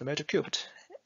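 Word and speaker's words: Metal3: the mid cube dial the word metal three is pronounced metacubed and also i will show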